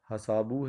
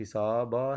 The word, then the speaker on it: حساب: ہمارا کہتا ہے کہ بتائیے تو ذرا کہ درست تلفظ والا کیا ہے؟ حسابو ہے، حسابہ ہے، یہ حساب ہے یا حسابو ہے. تو درست آپشن جو ہے وہ ہمارا سی ہے، اور وہ ہے حساب، حساب نہیں.